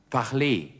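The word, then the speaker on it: parlez: fangen wir an parle parle das heißt sprechen das E am Wortende wird wie E ausgesprochen parle W parle sie sprechen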